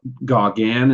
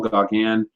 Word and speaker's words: Gauguin: Paul Gauguin is how you say his name, Paul Gauguin.